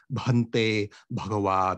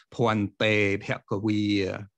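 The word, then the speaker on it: bhante bhagavā: And just note that the Pali portions are pronounced according to local phonology, so that the opening phrase, Bhante Bhagawa, becomes Poante Bhagawi. Poante Bhagawi.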